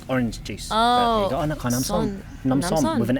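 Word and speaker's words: น้ำส้ม: How do you say this in a Namsom. Namsom. Oh, Nam is water. And Nam and S-O-M, like som. Namsom, so water orange. Well, it's just Nam means like drink, like orange juice. Oh, Namsom with an M.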